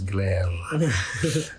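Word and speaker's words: Gleyre: it's a guy called glare g-l-e-y-r-e or probably if i pronounce it properly i would roll the r's glare um something like that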